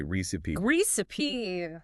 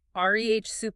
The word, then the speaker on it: recipe: I think the most common mistake is putting the emphasis on the wrong syllable. Oh, the stress. Yeah, people often say reip gip. Stressing that second syllable. But that's not quite right. Not quite. The correct way to say it is rehy. Rey with the emphasis firmly on that first syllable.